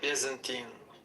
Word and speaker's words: Byzantine: Byzantine.